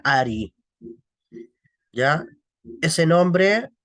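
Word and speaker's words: ערי: Y es el nombre de Dios Ain Resh Yud, que se pronuncia Ari.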